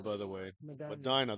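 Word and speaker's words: Medina: M by the way Madina that's how they say it down here they they like that they like that vowel all by itself to say its name so well that's a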